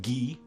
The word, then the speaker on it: Guy: In French, you'd pronounce his name Guy, and then some jackass